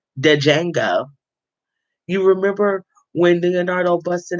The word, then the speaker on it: Django: though django said himself the d is silent dejenga you remember when leonardo